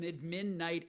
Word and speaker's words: admin: I'll let you define what an admin night actually is. Admin night. Here in San Francisco, we we emphasize syllable number one.